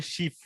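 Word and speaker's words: Schiff: আর হচ্ছে গিয়ে সেকেন্ড হচ্ছে গিয়ে আপনি বারবার স্কিপ স্কিপ বলছেন, ওটা উচ্চারণ আসলে শিফ, ঠিক আছে?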